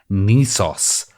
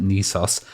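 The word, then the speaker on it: NESOS: It's looking a bit like a word processor to me, but it is called Nisos. That's how he wants to pronounce it. NES OS is kind of spelled, but Nisos.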